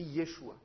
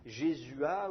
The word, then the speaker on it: Yeshua: sauf que en fait ça ne s'écrit plus yhoshua ou Yoshua ça s'écrit Yeshua donc au lieu de les appeler Josué il faudrait faudrait essayer de les appeler j'ai jésua ou ou jésué ou quelque chose comme ça mais les traductions françaises